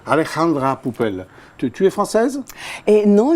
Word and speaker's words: Alejandra Poupel: Bonjour, comment tu prononces Alexandra? Alejandra Pupel. Alejandra Pupel.